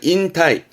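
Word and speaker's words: 引退: 인타이, 인타이. 우리말도 인퇴라는 말을 쓰긴 합니다만 보통 은퇴 쓰니까 한자가 다르지만 의미로는 은퇴 씁니다. 발음은 인타이, 인타이.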